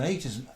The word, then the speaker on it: ait: And do you know what an 8 is? No, tell us. An 8 it's spelled AIT, and it's also spelled EYOT, and it is it's an island on a river, and it's built up over time.